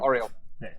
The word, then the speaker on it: Oriole Park: Wasn't bad pronunciation. Oriole. Oriole. Oriole. It's just, it is just Oriole. Oriole.